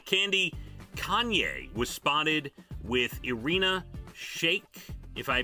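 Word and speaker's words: Irina Shayk: we'll see uh candy kanye was spotted with irina shake if i pronounce that right that's right yes the model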